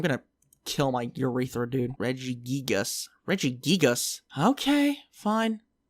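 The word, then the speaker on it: Regigigas: reggie gigas i'm gonna kill my urethra dude reggie gigas reggie gigas okay fine sounds stupid but i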